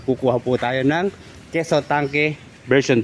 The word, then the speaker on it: Tanque: bakit hindi natin i-try itong keso tank version 2 or tangke yun po ang kanyang tamang pronunciation Ayan ' ba para